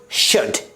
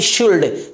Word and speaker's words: should: अगला example शुड SHOULD ना कि शुल्ड, क्या पढ़ेंगे इसे शुड।